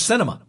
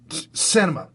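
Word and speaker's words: Sinema: christian SEMA I thought how do you pronounce that woman's name from from Arizona close cinema cinema yeah christened cinema think of a theater okay so instead of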